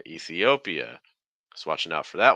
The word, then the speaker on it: Ethiopia: so Mexico Co Mexico next one Ethiopia it's nice vow Sounds here we have an e then we have an e then we have an O then we have an e then we have an uh lots of e sounds say Ethiopia Ethiopia Ethiopia no again the stress comes late e and then we get the stress so you make sure